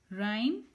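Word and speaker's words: rhyme: राइम, यहाँ पे H silent है।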